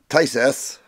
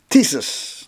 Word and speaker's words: Tisas: right there zigana px9 made by tsus not tses tsus that's the correct way to say it and I think they